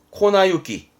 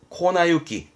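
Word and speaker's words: 粉雪: 오른쪽까지 알겠죠 눈설자에 눈입니다 우리말로 읽으면 분설 분설이 뭐냐면 가루 눈 인건데요 발음은 코나유키 코나유키 가루는 그러면 아노 영어로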